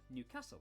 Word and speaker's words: Newcastle: almwick anak which is near newcastle or as the people from the city itself say newcastle when will they learn